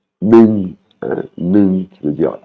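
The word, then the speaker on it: หนึ่ง: Ning, hein, ning, qui veut dire un, hein, parce qu'on a la voyelle ça la E. Et là, il est en vert, hein, donc c'est une intonation qui descend ning.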